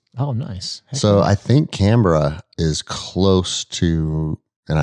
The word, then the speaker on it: Canberra: out in australia so they're based out of canberra okay and it looks like it's spelled canberra canberra but they call it canberra and i've been